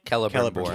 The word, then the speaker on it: Celebrimbor: Celebrimbor.